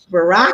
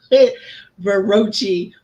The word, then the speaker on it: Baraki: No rhymes with hockey. So Baraki. Baraki. Oh, I love it. Baraki, that's cool. I love it. I pronounced it Barochi when I was first dating my husband.